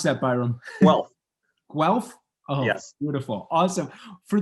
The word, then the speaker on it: Guelph: uh at the university of how do you pronounce that byron well guelph oh yes beautiful awesome for those listening let's